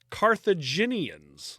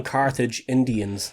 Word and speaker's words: Carthaginians: Persians, uh, Macedonians, and Carthaginians. Look at that. I said it right this time. Oh, you didn't call them Carthage Indians this time. Carthag Carthaganians. Is that what I said? Carthage Indians.